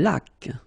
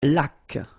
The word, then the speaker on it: laque: Une laque. Remember the rule when you get this QU, well, U is not pronounced, so you get k like that.